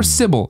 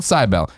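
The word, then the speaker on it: Cibele: a little bit about cbel or sible if you want to pronounce it correctly which I never do cuz I played the game loved the game and I call it cybel and if Nina wanted to pronounce the correct way she probably should have just written it a normal way more importantly I'm spoiling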